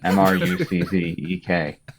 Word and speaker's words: Mruczek: Ruchek. Muchek. Just like it's spelled. Mruczek. If you're Polish.